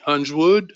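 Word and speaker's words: Huiswoud: named Otto Hans word his last name hu s hu is wo UD Huns would think it's pronounced he was actually also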